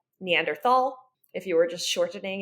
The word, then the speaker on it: Neanderthal: exists to this day it's spelled with a th in it so if you an English speaker you would read that Neanderthal if you were just